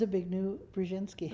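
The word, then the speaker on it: Zbigniew Brzezinski: reportedly written by carter's hawkish national secretary advisor zavignou brzezinski how do you pronounce that it's a big new brzezinski okay stated let our position be absolutely clear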